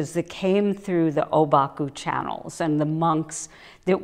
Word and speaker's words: Obaku: what we mean by obaku is a Japanese pronunciation of the Chinese term called huangpo and this